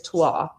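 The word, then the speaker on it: toile: the lighter color is twa, and it's spelled Toille, so it looks like twill, but it's twa.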